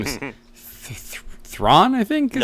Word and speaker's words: Thrawn: His name is Thrawn, I think, is how you pronounce it. Something Thran? Yeah, no, yeah, that's Thrawn, the Master Strategist.